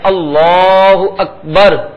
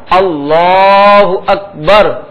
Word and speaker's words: اللہ اکبر: اللہ اکبر. دہرائیں، اللہ اکبر.